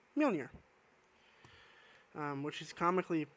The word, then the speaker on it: Mjolnir: And then it looks like Manar, but it's actually pronounced Mjolnir.